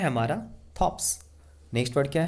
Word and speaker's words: thorpes: Next word है हमारा थॉप्स। Next word क्या है? थॉप्स। देखिए यहाँ पर हम लोग आर को साइलेंट पढ़ेंगे, उसको हम लोग बोलते हैं विलेज यानी गांव, THORPES, थॉप्स।